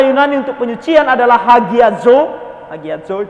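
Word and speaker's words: ἁγιάζω: Hagiazo itu cara bacanya.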